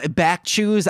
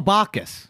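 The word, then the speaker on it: Bacchus: Chalice of BW oh BW I know I'm saying his name wrong he was the Chewbacca the god of wine and drinking oh bakas yes B baby [ __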